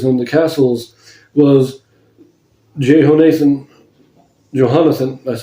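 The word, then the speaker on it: Jehonathan: And over the storehouses in the fields and the cities and in the villages and in the castles was Johannathan, that's how you pronounce it, Johannathan, the son of Uzziah.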